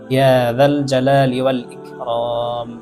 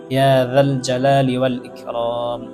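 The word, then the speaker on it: يا ذا الجلال والإكرام: এই আয়াতের মধ্যে প্রথমে জাল আছে, তারপরে জিম আছে। জালকে জালই উচ্চারণ করতে হবে এবং জিমকে জিমই উচ্চারণ করতে হবে। এবং জালের জায়গায় যদি জিম উচ্চারণ করা হয় বা জিমের জায়গায় যদি জাল উচ্চারণ করা হয় তাহলে অর্থ পরিবর্তন হয়ে যাবে।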